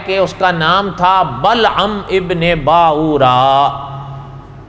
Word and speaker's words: بلعم بن باورا: تھا بلعم ابن باورا۔ اچھا، اس کے نام کے تلفظ میں بھی تھوڑا سا اختلاف ہے، لیکن علماء نے لکھا ہے کہ کوئی حیرانگی کی بات نہیں، یہ زبانوں کے فرق کی وجہ سے اس کے نام کے تلفظ میں فرق آیا، بلعام بن باور یا بلعم بن باورا۔ اس لیے کوئی ایک